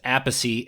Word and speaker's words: Appice: Apey and yours is a piece. Do I have that right? Okay, good. And I'm going to assume that Aie is the correct uh pronunciation because you are the elder. My father said apey but when you know